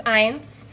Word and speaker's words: Eins: I made it, and his name is Eins because so it's spelled E-I-N-S because it's a nod to my